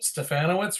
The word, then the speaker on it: Stefanowicz: the stronger together podcast thanks so much yep stefanowitz rhymes with banana what's Rob no you know there